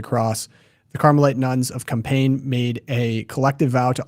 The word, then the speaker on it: Compiègne: Compiègne. It's French, thank so you only say 3 of the letters.